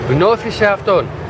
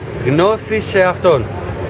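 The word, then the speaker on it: γνῶθι σεαυτόν: The pronunciation. Gnothi se afton. Again. Gnothi se afton. Gnothi se afton. Exactly.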